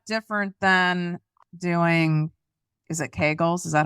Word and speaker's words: Kegel: How is that different than doing, is it Kegels? Is that how you say it? Kegels? Kegel. How is that? I'm like Kegel. It rhymes with bagel though.